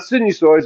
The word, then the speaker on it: sinusoid: Yeah, it's the long I. So it's not sinusoids, it's sinusoid. It's a long I sound.